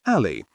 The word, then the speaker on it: Alli: A great example is Alli, pronounced Alli, a drug to aid weight loss.